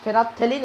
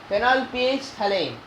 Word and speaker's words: phenolphthalein: ph thalane many of you say it is phenothelene it's fine but spelling should not go wrong